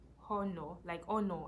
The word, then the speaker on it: honor: I think words like honor, I think it's honor, not honor. Like I think the H is silent, but if you search